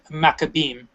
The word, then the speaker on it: Maccabees: So you would say, I guess, for lack of a better term, you say Maccabees, but it's really Maccabee, and in plural it's Maccabeem.